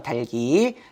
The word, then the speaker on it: 닭이: 달기예요, 달기. 제 음가대로 다 소리 나는 겁니다. 탈락시키면 안 돼요.